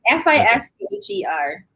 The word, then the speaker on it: Fischer: Valerie Fisher, and that's spelled, do I have it pronounced correctly? Fisher? Yes, Fischer.